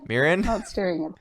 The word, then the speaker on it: Miren: say your name again Miren Miren Miren Miren Miren Miren there we go not mere alone ya know a couple extra syllables are there all right ah so